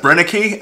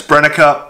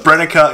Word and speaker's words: Brenneke: of people pronounce that brenneke uh my german friends say it's brennecker i'm gonna say that german's a bit more correct and i'm probably not exactly pronouncing it correctly but brennika is a lot more